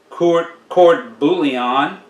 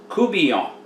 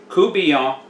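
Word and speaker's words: court-bouillon: it would be pronounced chord bouillon but it's kubian kubian and the n is silent it is like kubian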